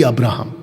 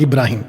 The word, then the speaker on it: अब्राहम: Every अब्राहम, every अब्राहम, नॉट इब्राहिम। इब्राहिम Muslims बुलाते हैं, जोइश लोग अब्राहम बुलाते हैं।